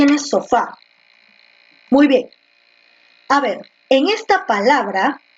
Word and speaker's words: sofá: dices sopa o tú dices siéntate en el sofá la segunda no entonces la mayor fuerza de